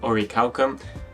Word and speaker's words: Orichalcum: as for Ori calcum this bait is pronounced in Japanese but I'm going to stick to the pronunciation or recalcum and I think it's